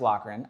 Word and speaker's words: Lochran: at Elite Inc tattoo I believe it's pronounced lockran I had to [